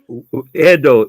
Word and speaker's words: Edo: You'll say the pronunciation. I'm writing. I'm taking notes. Edo, Edo, Edo, Edo.